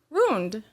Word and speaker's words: ruined: Ruined. What am I supposed to say? Ruined. 2 syllables. That's ruined.